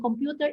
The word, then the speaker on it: computer: Okay, the correct answer is A. The stress is in the second syllable.